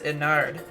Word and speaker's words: Ennard: My favorite FNAF character is Ennard, or Innard as people call him. I like saying Ennard. That's just the way I learned how to say it.